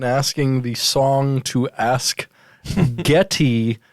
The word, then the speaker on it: Geddy: the song to ask getty which is spelled like gettysburg not getting gettysburgly yeah as we know